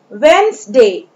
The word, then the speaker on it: Wednesday: Now Wednesday, Wednesday, in the spelling of Wednesday, the letter D is silent, Wednesday ना पढ़ के हम इसे Wednesday पढ़ेंगे, Wednesday।